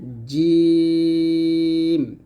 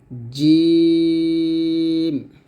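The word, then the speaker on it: ج: হবে সাপ হচ্ছে জিম জিম উচ্চারণ করতে হবে জিবার মধ্যখান তার বরাবর উপরে তাদের সঙ্গে লাগিয়ে জিম আর জিম উচ্চারণ করার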